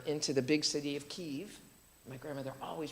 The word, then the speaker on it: Kiev: the big city of Kiev. My grandmother always pronounced it Kiev, and I always thought she was wrong, but then you find out that's the Ukrainian pronunciation.